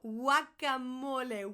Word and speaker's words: guacamole: Guacamole, whack, guacamole, guacamole, guacamole.